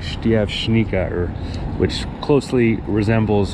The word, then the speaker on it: Štiavnica: then the name became Steve Nika which I'm pronouncing it in the English way of reading the word but the actual pronunciation if I remember correctly is like Steve Shaniqua which closely resembles how